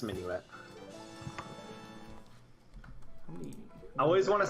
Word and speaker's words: Minuet: I believe it's pronounced Minuet. You're probably right. Yeah, it's Minuet. I always want to say minute.